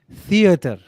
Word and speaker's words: theater: The T with the H sound theater.